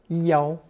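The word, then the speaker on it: 要: The most common expression for to demand or to request is notice that yao is pronounced first tone in this usage not fourth tone.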